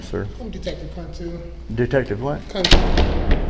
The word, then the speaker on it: Kuntu: I'm Detective Kuntu. Detective what? Kuntu. How do you spell that?